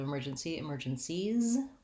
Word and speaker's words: emergencies: When you make it plural, instead of emergencies, we just add the Z sound, emergencies.